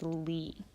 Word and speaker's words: Li: solfege syllable is Li notice that all of the raised solfege syllables end with the letter I or the sound e so we're just changing the vowel sound on the regular solfege syllables so dough when it's raised a half step becomes D ray becomes REE becomes fee so will become C and law becomes Li so that's a good